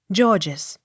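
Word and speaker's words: Gorges: r g e s georges the first g hard and second g soft g o u g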